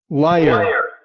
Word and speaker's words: liar: En inglés van a tener la vocal rótica al final. liar, liar, Liar, liar.